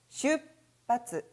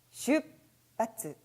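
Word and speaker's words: 出発: 출발, 리을이니까 슈츠, 하츠라고 읽었다간 큰일 납니다. 자, 슈츠, 하츠가 아니라 슛이라고 해서 츠가 갑자기 작은 초음으로 바뀌고 발음이 강해지는 현상까지 나타나는데요. 자, 일단 원리를 설명드리기 전에 발음부터 같이 해보도록 할까요? 슈바츠, 슈바츠. 라고 읽으시면 되겠습니다.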